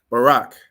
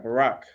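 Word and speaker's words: ברך: So the letters are Ba, Ra, and Ka, but how would you pronounce that word? Go ahead. Barak. Well done. All right, Barak.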